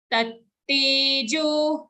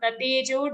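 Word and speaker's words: तत्तेजो: Tattejo, not tatejo, double ta, tattejo, vidhi, like how we say buddhi, siddhi.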